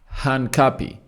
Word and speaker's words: Hincapié: or Hanapi, you know, Henapy. Is it Hanapi? Henapy, you know, the name really is really one of those hard ones to pronounce, but it's Hanapi.